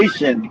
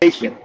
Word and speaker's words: Haiti: Oh, he's Shout to Haitian. He's Haitian. uh, The correct pronunciation is right.